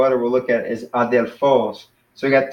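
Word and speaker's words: ἀδελφός: So that'd be similar to adelphos, where the accent is at the end.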